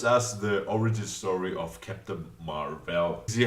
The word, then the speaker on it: Captain Marvel: mispronouncing this movie title it is Captain Marvel and not kept Marvel it explained it also